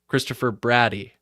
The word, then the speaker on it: Brady: People are Christopher Brady rhymes with daddy, so roll a fatty.